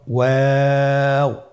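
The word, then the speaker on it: واو: আজকের পর্বের পরবর্তী হরফটি হলো ওয়াও। আমরা স্ক্রিনে দেখতে পাচ্ছি ওয়াও হরফটি উচ্চারণের ক্ষেত্রে বারিক হবে এবং 3 আলিফ টেনে পড়তে হবে। আপনারা আমার সাথে বলুন ওয়াও ওয়াও।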